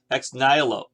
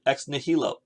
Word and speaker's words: ex nihilo: myths other cultures have what is called x-nylo or my brother pronounces it ex nihilo i really don't know which is correct i don't speak latin